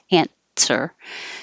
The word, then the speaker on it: answer: it like a t answer so if you think of it as this way and Sir or ant sir it should sound the same there's no W that's the point answer is that your